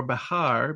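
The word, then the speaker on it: Bexar: where San Antonio sits in what we pronounce as Bear County or Bahar B X is The Alamo was originally San Antonio de Bahar.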